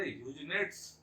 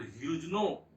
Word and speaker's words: Huguenot: क्षेत्र में रहने वाले ह्यूजनेट्स, जो जिसको हम लोग ह्यूजनो को कह सकते हैं, उसका स्पेलिंग हो जाएगा HUGUENOT। तो ह्यूजनो अगर इसको हम लोग कहें तो ठीक है।